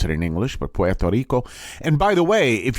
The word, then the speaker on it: Puerto Rico: In Puerto Rico is how we pronounce it in English, but Puerto Rico.